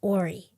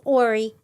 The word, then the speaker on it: Horry: It's Ory County cuz I didn't know that. There's a big H there. Do you say do you pronounce it or not? You don't. It's Ary County.